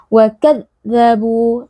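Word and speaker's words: وَكَذَّبُوا: Huruf dal adalah huruf rakhawah. Kita tidak boleh menekannya secara berlebihan. Kita tidak boleh membacanya sebagai wakadzabu (dengan tanda titik). Jadi kita harus membiarkan suara itu mengalir, wakadzabu.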